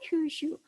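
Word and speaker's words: 九州: 그 다음에 이제 여러분들이 또 보면은 한반도와 가장 가까이 있는 큰 섬으로 바로 큐슈, 한자로 구주라고 쓰고 큐슈라고 읽습니다.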